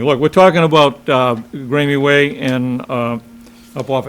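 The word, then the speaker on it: Graeme: everybody know where uh i think it's pronounced grammy way g-r-a-e-m-e actually haven't been up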